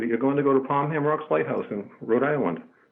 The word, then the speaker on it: Pomham: I would have to go with what I'm saying, Pomham, because Pomham, it sounds like there's two M's in the word, and actually there's only one M.